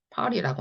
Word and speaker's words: party: 또 원어민들의 발음으로 하면 party라고 하는 거.